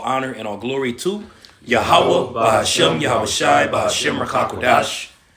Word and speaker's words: Yahweh: But his name and how it's pronounced, how it was given unto our forefather Moses, when you read it in Exodus 3, is Yahweh, which is interpreted, he